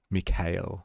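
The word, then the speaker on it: Mikhail: So, if anyone's aware of I think they say his name is Mikail, I think it's how the the Russians say.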